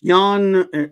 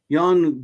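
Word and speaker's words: Ioan: I still can't say his name y it's Yan it's Yan yon grod GFF yon Gruff yeah I don't wantan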